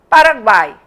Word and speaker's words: Paraguai: dela uma semivogal então a palavra Paraguai o u é pronunciado fraquinho o o a é a vogal é um som tônico forte o i é outro som fraquinho Uruguai mesma coisa E